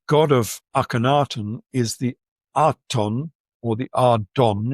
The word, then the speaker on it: Aten: but it's spelled with a regly. And the reglyph as we saw before is better pronounced as an e rather than a. So the god of Akenatan is the eaton or the eden.